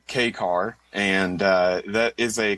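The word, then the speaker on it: kei car: He's one of the largest uh I guess I don't know what key What is k e i, Tim? What is that? Uh that's it's pronounced uh K car and uh that is a classification of vehicle in Japan.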